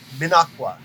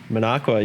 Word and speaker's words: Minocqua: Minocqua, yep. Minocqua. Mm-hmm. Minocqua. Yeah. Like I said, the trick to pronouncing Wisconsin cities is just say them as they are spelled, Mm-hmm. which sounds ridiculous, except it's correct.